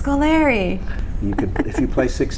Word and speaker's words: Scolari: Kim last year where he called me Scolari yes he did Scolari that and that threw me for a loop when I saw I said oh it's Scoleri but if you play